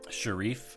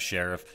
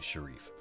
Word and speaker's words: Sharif: is something that steve sharif and steve if you're watching so sorry about mispronouncing your name before i just assumed it was sheriff but i still want